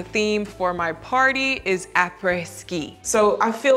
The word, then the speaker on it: après-ski: There's also this whole concept that I learned about called après-ski. It's a French term, and I'm probably pronouncing it horribly, but it's A-P-R-E-S, ski.